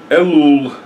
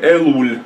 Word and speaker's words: Элул: Элул, или Элуль, по-разному произносится, Элул.